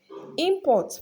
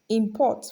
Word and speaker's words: import: So when it functions as a noun, it is stressed on the first syllable usually. And when it is function as a verb, it is stressed on the second syllable usually.